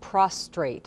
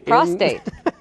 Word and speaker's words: prostate: said it right because I hear a lot of prostrate and prostrate something different it's something different that's when you're flat on the ground exact prostate is what we're talking about today um and